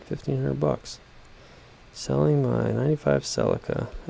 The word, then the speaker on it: Celica: bucks selling my 95 celica or a celica that's the brits say 2.2 front wheel drive